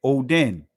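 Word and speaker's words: ὠδίν: Transliterated Odin, pronounced Odin.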